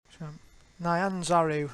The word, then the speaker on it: Nyanzaru: Alright, so import Nairanzaru. Nyanzaru, that's how you pronounce it.